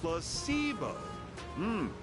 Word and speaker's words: placebo: to our vocabulary today repeat after me placeo the stress is on the middle syll very good